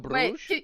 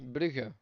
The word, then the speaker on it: Brugge: that's so Wait, Bruges, right? can you say it again? Say it again in Dutch. Dutch, Brugge.